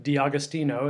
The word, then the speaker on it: D'Agostino: introduce our special guest his name is dom d'agostino as i pronounce that correct that's right all right okay